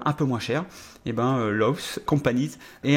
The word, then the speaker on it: Lowe's: Donc je vais essayer de le prononcer correctement. C'est Lowe's, voilà.